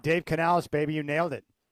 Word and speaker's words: Dave Canales: Uh Dave Canales, how do you is that did I did I pronounce his name right? You got it right. Dave Canales, baby, you nailed it.